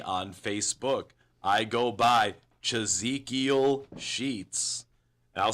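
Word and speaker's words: Chazekiel: to find me on Facebook, I go by Chzekiel Sheets. I'll spell that one time for the people that are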